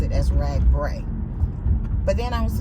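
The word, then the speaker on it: RAGBRAI: um BR and they were like it's actually pronounced rag Bray and I was like Yay so I did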